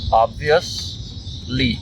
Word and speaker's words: obviously: Obviously. Obvious. Não é os, tá? Não é obvious. Obviously.